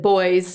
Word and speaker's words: Woys: well like you said you said boys boys are toys those not to be put together but they just it rhymes with that because it's spelled w-o-y-s so it's basically just interchanging out the first level yes exactly so now